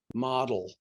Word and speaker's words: Model: Next thing we're going to talk about is the Model Treaty, not pronounced model treaty, but Model.